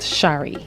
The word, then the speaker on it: Shri: My name is Shri, pronounced Shari.